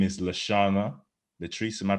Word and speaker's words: Shana Latrice: Her name is Shana Latrice. Am I pronouncing it correctly? Yes, Shana Latrice.